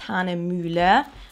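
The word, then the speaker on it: Hahnemühle: which is a German brand so it is pronounced Han muler I know a lot of people can't uh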